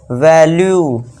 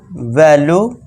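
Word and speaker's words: value: Next fourth rule से देखिए क्या है दोस्तों, जब किसी वर्ड के लास्ट में यू ई आए तो यू ई का उच्चारण भी यहाँ यू होगा। अब देखिए दोस्तों, यू ई लास्ट में सभी में है, जी हाँ है सभी में। तो यहाँ पे क्या इसे करेंगे, परस्यू, यू का उच्चारण लॉन्ग वाले करेंगे, वैल्यू, issue, आर्ग्यू, pursue, वैल्यू, issue, आर्ग्यू।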